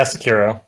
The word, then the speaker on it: Sekiro: First one here, and how do you pronounce this, Wolf? Is it Sekiro? Yeah, Sekiro.